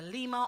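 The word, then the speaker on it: Lyma: You can say either Lima or Lima.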